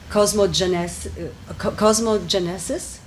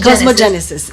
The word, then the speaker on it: cosmogenesis: Then we have cosmogenesis. Am I pronouncing it right? Cosmogenesis, yes. Which is a discussion on the... Cosmogenesis. Cosmogenesis. The emphasis was on the wrong.